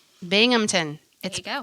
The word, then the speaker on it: Binghamton: Binghamton. There you go. It's spelled Binghamton.